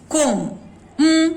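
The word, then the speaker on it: comb: कोम सुनाई पड़ता है, ब नहीं है।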